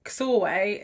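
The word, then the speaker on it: Csorwe: really tricky to pronounce so soreway is about c-s-o-r-w-e there is a glossary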